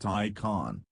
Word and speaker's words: Taycan: Pronounced Taycan, the name roughly translates to lively young horse in a Eurasian dialect.